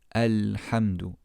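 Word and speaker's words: الحمد: At the beginning of the ayah, however, we would say Alhamdu. Alhamdu. The Hamztul-Wasl here will be pronounced as a fatha due to it being the beginning of our speech.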